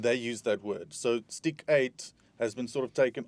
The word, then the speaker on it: Stiekyt: And how we must pronounce correctly? Stiekyt.